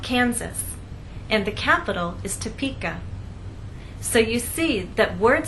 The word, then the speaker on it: Topeka: do not say topic Atkins ass the correct pronunciation is Topeka Kansas get it exercise to listen to the